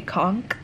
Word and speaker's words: conch: Okay, so it's, I think we've just been saying it wrong. We being the general public, but it's spelled conch, like, you know, the conch episode in SpongeBob, whatever. But they say conch.